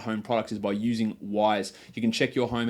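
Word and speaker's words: Wyze: brought to you by Wise Wise is an indoor camera it does it all and it's spelled Wy z e Wy Z depending on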